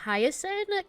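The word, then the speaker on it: Hyacine: I think it was Hiasin. Kind of like how you say Hiasin, like the flower, but just the highest part.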